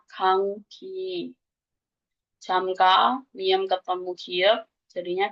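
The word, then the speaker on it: 감기: Nanti dibacanya kangki.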